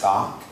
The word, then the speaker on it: skok: And to pronounce it, it's like sock, but you put a K after the S. So it's skok.